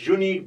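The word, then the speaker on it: unique: जाएगा इट is dash यूनिक book on grammar यूनिक यू तो है वाई वाला साउंड तो क्या है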